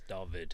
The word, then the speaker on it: Dawid: So it becomes a bit David. hard. But yeah, it's pronounced as a V, so it's Dawid. Dawid.